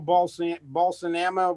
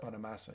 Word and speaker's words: Bonamassa: Well, he plays a certain style of pentatonics, like Joe Balsanama, whatever the guy's name is. Bonamassa. Yeah. Bonamassa. I can't pronounce his name yet.